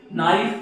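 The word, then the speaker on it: knife: हाँ, नाइफ। नाइफ पढ़ते हैं, जबकि ये तो के आ रहा है ना बेटा, क्योंकि के साइलेंट, के साइलेंट है।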